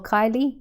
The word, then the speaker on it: Kyle: How do you say? Hey Kyle or Kylie. Sorry, my reading's not great. It's Kyle. Kyle, sorry. No worries. Like, it's got the Y and the L and the E, and I'm not sure with the order.